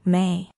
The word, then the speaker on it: Me: The Sumerians themselves named it the Mi, pronounced May.